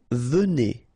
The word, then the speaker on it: venez: Vous venez. Okay, so a Z at the end combined will give you the sound E. And here you've got a. Venez.